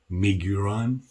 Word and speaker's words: Miguron: the pivot is the logo miguran I believe is the correct pronunciation it is made in